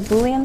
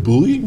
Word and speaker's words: Boolean: Yeah, well, you can kind of do like Boolean searching.